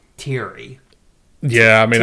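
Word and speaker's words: Thierry: Terry that was like teary yeah I mean I guess it's pronounced it's pronounced Terry but it's the French obviously a heroin addict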